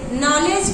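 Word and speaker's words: knowledge: ठीक उसी प्रकार से नॉलेज की स्पेलिंग में के एन ओ डब्ल्यू एल ए डी जी ई में के साइलेंट रहता है, नो की स्पेलिंग में के साइलेंट रहता है, ठीक है ना।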